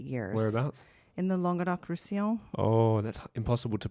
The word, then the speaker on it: Languedoc-Roussillon: Teach me it again. Languedoc. Well, down there, they have a little bit of a southern twang, so it's more like Languedoc. Languedoc-Roussillon. Roussillon. So it's Languedoc-Roussillon. It's not so hard, really.